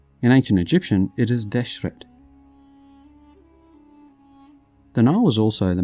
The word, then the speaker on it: Deshret: the red land in ancient egyptian it is deshret the nile was also the most important transport